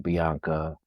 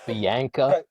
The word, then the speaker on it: Bianca: So like do you like hate hearing your name pronounced wrong? Yes. Biana Wade Barrett saying Biana Biana.